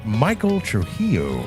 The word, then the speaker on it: Michael Trujillo: first featured guest was Michael Trujillo. All right, how do you pronounce it again? There's a few Ollie's late in the show. Right. Michael Trujillo. That's it, dude.